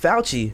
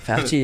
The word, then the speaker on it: Fauci: Fauci. Fauci. Yeah. I'm gonna take a shot for you. We gonna rhyme with Fauci. We're gonna throw that in there. Ouchie. Ouchie. Oh, there you go. Ouchie, grouchy, Fauci.